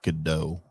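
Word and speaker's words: Gadot: done Galaga dot done I believe it's pronounced Godot I don't know if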